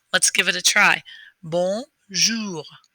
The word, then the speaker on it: bonjour: are going to try and use your upper lip to force your finger to touch your nose and that's how you know you're doing the o sound right and the r just from the back of your throat instead of from your